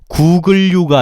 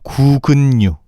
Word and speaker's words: 구근류: 구글류가 아니고 구근류.